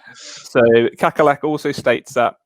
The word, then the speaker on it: Kakkerlak: Kakalak is how I would pronounce that.